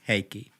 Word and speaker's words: Heikki: Heikki. Heikki? It's like hey and key.